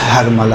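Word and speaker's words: حرملہ: یقینی طور پہ ہرملہ، دیکھیں اصل تلفظ ہرملہ ہے، جسے ہم لوگ اپنی زبان میں ہرملہ کہتے ہیں، صحیح؟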